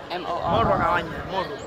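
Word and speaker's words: Morro: Moro. Moro. Moro. Moro. Roll your R's.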